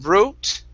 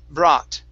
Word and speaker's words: brought: good uh here uh this word is brought instead of brute okay it's an ah sound bra brought dropped okay very nice